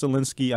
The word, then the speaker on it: Sulecki: card the main event Fabian venue Jacobs versus Solinsky it's pronounced Solinsky I know a lot of people they was